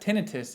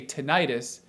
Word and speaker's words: tinnitus: you pronounce it but i would say that tinnitus is a more accurate pronunciation the suffix itis itis refers to inflammation like sinusitis that means inflammation of the sinuses so if you say tinnitus you're sort of implying that it's an inflammatory condition and it's not but